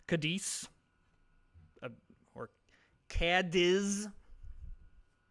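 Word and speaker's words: Cádiz: So, if we need to hook up, I'm assuming that's Lisbon or uh Cardis or sorry, there's not an R in there. Kadis or or Kadis.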